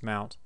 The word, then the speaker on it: mnt: we mounted route on mount so we're going to use mount MNT i pronounced it mount because that's what it stands for it's just mount -